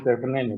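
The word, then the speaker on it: Thévenin: Ya susah ya ini Thevenin, bacanya Thevenin. Ini mau nggak mau bergaya orang Sumatera Utara nih, Thevenin tegangan.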